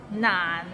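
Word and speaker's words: 難: find it difficult because the end has a little energy so it's a bit of nasal sound nonsense i eat an orange naan it's not it means difficult and it's difficult to pronounce so it starts with n and ends with another end and it's in the low tone so practice and you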